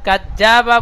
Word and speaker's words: كذب: কাযযাবা বলে জিমের মতো পড়লে হবে না, জিমের মতো উচ্চারণ হয়ে যাচ্ছে, জাল পড়তে হবে।